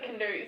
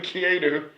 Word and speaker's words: Keanu: I also can't believe I called him Canoe so many times today. Canoe, Canoe. rather than Keanu. Yeah, I still can't pronounce it.